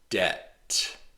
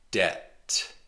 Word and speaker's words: debt: Debt. There's no B sound. The B is silent. Debt.